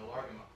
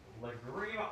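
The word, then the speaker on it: Lágrima: Yeah, I'm doing Largama. Lagrima. All right. I can never pronounce it right.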